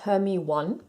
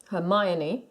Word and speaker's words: Hermione: and that's her name it's not it's not pronounced her me one Hermione is JK Rowling now